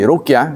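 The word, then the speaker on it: رقية: Tapi ada lagi definisi ruqyah yang disampaikan oleh ulama yang lain. Ar-ruqyah bidom al-iwadah allati yurqa biha sahibul afat kal huma wasar wa ghairihima. Ruqyah itu dibacanya dhom, ruq ya.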